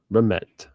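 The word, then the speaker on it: Rehmet: Remmet Remet Remet um rhymes with regret, right?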